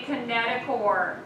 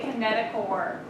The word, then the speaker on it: kinetochore: sister chromatid called a kinetochore remember it's spelled chore but it's pronounced core this is what the